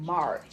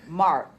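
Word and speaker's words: Marthe: And then I also, for my good friend Mart, she's a nurse. And What'd you say? Mart. It's spelled M-A-R-T-H-E.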